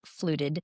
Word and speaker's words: FLUTD: So fluted stands for feline lower urinary tract disease. So that's an acronym and we just pronounce it as flu fluted.